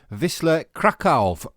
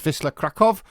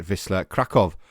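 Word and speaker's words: Wisła Kraków: now the manager of Whistler krakov I think it's pronounced Vista krakov episode number 81 of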